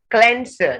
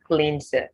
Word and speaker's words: cleanser: lemon in it right cleanser not cleanser cleanser cleanliness not cleanliness